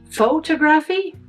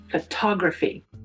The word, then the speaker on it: photography: How do you say this word, for example, which has four syllables? Is it photography? No. Is it photography? Nope, it's not. It's photography.